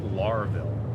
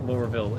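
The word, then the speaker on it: Lorville: I mean, I don't I don't think anyone's calling it Larville. That That'd be kind of ridiculous there. I think Lurville is the general consensus on pronunciation.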